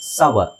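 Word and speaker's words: sour: fine okay next ಬಂದು ಎಸ್ ಓ ಯು ಆರ್ ಇಟ್ಸ್ ಸೋರ್ ಅಂತ ಹೇಳ್ತಾರೆ ತುಂಬಾ ಜನ ದಟ್ಸ್ ರಾಂಗ್ ಸವ ಏನು ಸವ ಸವ ಓಕೆ ಸೋ ಇಲ್ಲಿ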